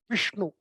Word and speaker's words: Vishnu: Right, and the next sha is Vishnu, Vishnu, Pushpa. All of that is sha. Sound. And then the last one, sa, is easy, right? Saraswati, soft Saraswati, right? Shiva, Vishnu, Saraswati.